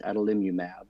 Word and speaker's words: adalimumab: But I have heard it pronounced adalimumab.